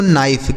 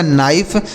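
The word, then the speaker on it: knife: आगे देखिए यहां पर भी के के साथ एन है तो के साइलेंट होगा तो इसे पढ़ेंगे दोस्तों नाइफ के एन आई एफ ई इसे पढ़ा जाएगा नाइफ नाइफ का मतलब होता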